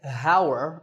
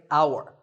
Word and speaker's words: hour: tour in number nine the spelling has an h at the start but that h is silent we don't say hower we say our the first sound is